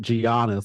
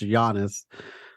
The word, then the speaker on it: Giannis: I was pronouncing it Giannis. I was pronouncing it like it's spelled, but no, he's just pronounced Giannis.